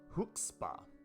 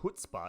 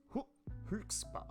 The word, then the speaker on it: Huxpa: It's Huxpa. It's not Hutzpah, it's Huxpa. Huxpa? There's a K in there, not a T.